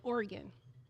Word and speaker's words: Oregon: I said, "We pronounce it Oregon."